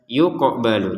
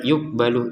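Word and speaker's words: يُقْبَلُ: An nafsin syai'aw wa la yuqbalu minha, lanya 2 harokat, qafnya dipantulkan yuqbalu, jangan sekedar yuqbalu yuk.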